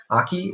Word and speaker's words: Aki: How do you say it's like aki, like aikido. I wasn't going to say that on.